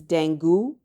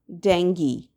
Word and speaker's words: dengue: If your answer is dengue, you've been pronouncing it incorrectly. The way to pronounce this word is dengue.